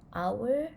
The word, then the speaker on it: hour: to talk about an hour one hour so you must use the word and okay even though it has the letter h at the front of it but the letter is silent so we don't have